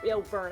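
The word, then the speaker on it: Byrne: It was, Burn. I said Brian, but it's probably Yeah, pronounced but Burn. it looks like kind of like a Brian because it's got a Y in it.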